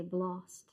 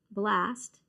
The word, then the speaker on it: blast: it marked anymore, but it's how the Australians and Europeans say it. So they would say blost. But we don't use that. We don't use that pronunciation for A ever. And so it would actually should have, for the way we pronounce it, blast.